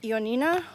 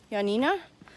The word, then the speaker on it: Ioannina: was new and anyways got into yo Nina or as the locals say yeah Nina which is in the